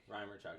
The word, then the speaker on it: Rymarchuk: Rymarchuk.